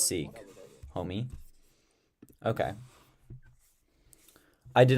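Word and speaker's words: Sikh: knew about six um how do you that se seek pronunciation seek yeah it is seek homie okay I did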